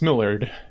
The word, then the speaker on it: Millard: That's Millard. Millard? What? Yeah, it's pronounced Millard.